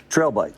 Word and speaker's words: trail bike: Well, you need a long A sound in that first word. Bike is right. What would you ride the bike on? A little path through Yellowstone, maybe? Trail bike.